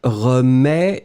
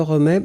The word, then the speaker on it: remets: So, in that situation, phonetically it will be, in fact, exactly the same, but then, as usual, we will write it slightly differently. Je remets, don't forget the S in the end, so TS. Tu remets, TS, same form. Il, elle remet, and it will be only T. We pronounce these three forms the same way, but you should really